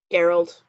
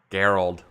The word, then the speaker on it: Gerald: Gerald. Gerald. Hard G.